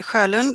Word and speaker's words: Sjolund: introduce yourself uh yes my name is cuolin try to pronunciate that if you're not a swede um and i work